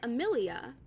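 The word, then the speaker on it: Amélie: ail her name is okay her name is spelled a m e l i e so it's like ailia but ail ail ail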